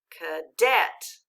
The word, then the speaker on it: cadet: there we know which syllable is accented so that means that a is making a funny sound we're going to code it with a dot now we know it says uh what kind of syllable is the second one it's closed code it with a brief so let's read the first syllable part read it k read the second syllable debt now let's read it with the accent cadet good job all